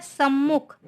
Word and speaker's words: सम्मुख: फिर है सम्मुख, तो सम्मुख ये वाला राइट है ना, बाकी देखिए गलत लिखा हुआ सम्मुख, फिर सम्मुख है, तो ये क्या है सम्मुख, आधा माँ का उच्चारण है इसमें, सम्मुख।